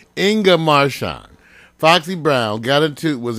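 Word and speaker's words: Inga Marchand: all right Foxy Brown ingga marshan I love her name that's why I always say it right Inga marshan Foxy Brown got into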